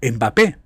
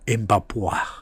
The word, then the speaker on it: Mbappé: Lo digo porque en España, la España de los catetos y paletos, la España de los recogeceitunas dicían Mbappé cuando se pronuncia Mbapu atentos a atentos a la clase.